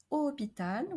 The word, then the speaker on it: hôpital: And finally, in most words beginning with HO, the O is pronounced open. Like in the word hôpital, we have already seen that. Hôpital.